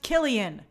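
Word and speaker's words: Cillian: Killian is pronounced Killian.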